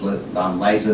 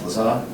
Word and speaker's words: Lazar: Jonathan Lazar, which is, if you're reading it phonetically, it's laser, but he like Lazar.